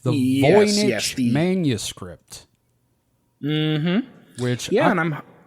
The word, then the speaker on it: Voynich: object that exists um we're doing the it's pronounced voich correct the voich manuscript which yeah and I'm oh yes go